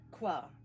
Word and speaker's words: Hvar: That's not how it's pronounced. Kvar. Ah, Kvar. da.